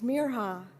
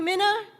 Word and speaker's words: Mirha: They stretched out the I until it sounded like an E and the R sounded wrong, and some people forgot the H.